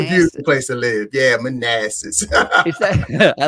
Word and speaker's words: Manassas: Manassas.